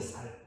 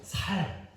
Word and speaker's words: 쌀: 쌀. 물론 요즘에 젊은 사람들은 쌀 발음을 잘 하는 사람도 있을 겁니다. 근데 이 대구에서 태어나고 대구에서 자란 분들은 쌀을 발음 잘못하고 살 이럽니다.